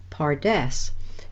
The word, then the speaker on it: pardes: you can listen carefully you can hear that it is the same as our English word paradise and this is in